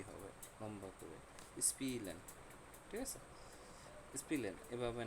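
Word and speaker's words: spielen: ই হবে, লম্বা করে স্পিলেন, ঠিক আছে, স্পিলেন, এভাবে না, স্পিলেন, একটু হালকা একটু টান দিয়ে হবে স্পিলেন।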